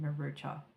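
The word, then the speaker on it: murúch: the mermaid is the murder haup that's I just want to say murder haup that is not how you're saying it it actually says to pronounce it marucha or meos I'm sorry I have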